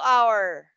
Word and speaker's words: hour: hour bus ride okay this word micah silent letter h okay you will not say how or it's our okay yes you will read these three letters only it's silent sound h okay hour oh yes